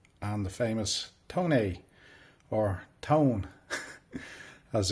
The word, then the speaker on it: Tone: mainly more focus on the automotive industry uh tone as I call it or ton um as some people pronounce it I'm just going to call it